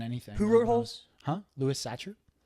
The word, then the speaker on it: Louis Sachar: who wrote holes huh Louis Sachar I think that's how it's pronounced but it's Louis the normal way and then si si har what are your uh